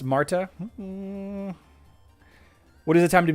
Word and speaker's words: Martha: be epic magic silence tja the silencer it's pronounced not martha mays till you know that matha is pronounced marta what is the time to beat now we'll